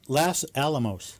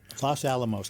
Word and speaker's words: Los Alamos: ranges los ama almost is that how do you say that las alamos las alamos is that right yeah los alamos county county ranked monk